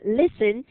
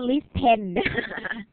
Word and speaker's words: Listen: นี่ เลย นะ คะ Listen l i s t e n ไม่ ใช่ อ่าน ว่า List pen อัน นี้ ตรง ตัว